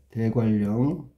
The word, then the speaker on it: 대관령: 대관령. 발음은 대관령. 바뀐 거 한번 찾아볼까요? 네. 니은이 리을로 바뀌었네.